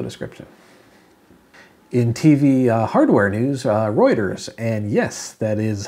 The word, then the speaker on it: Reuters: in the video description in TV Hardware news Reuters and yes that is how you pronounce it trust me is reporting that samsung